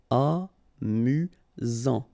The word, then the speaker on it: amusant: You've got only one S here between the vowels, so it's really this Z sound. Amusant.